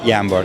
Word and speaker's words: Jambor: Hey, we are here with Jambor? Yeah. Jambor, okay. Is that actually how you pronounce it? Jambor, yes.